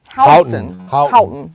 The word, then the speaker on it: Houghton: Houghton.